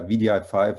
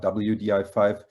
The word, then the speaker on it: wdi5: by the way uh vdi5 as in not wdi5 because we were so sick of saying w all the time so we declared wdi5